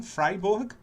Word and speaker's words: Freiburg: university of freiburg i think it's the correct pronunciation freiburg it's correct professor yes from switzerland and he's